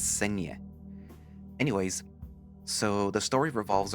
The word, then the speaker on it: Cienie: And well, I had to Google to try to see how you pronounce it. So, according to Google, it's Cienie.